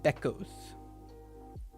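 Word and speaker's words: βέκος: First, remove the kos ending, which was added in the Greek version of the story, then pronounce be as you would the English word bed without d at the end.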